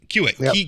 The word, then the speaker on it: Kiewit: And which is not to besmirch their other properties, TC Energy and I don't know how to pronounce this other way. Kiewit. Yep. Kiewit.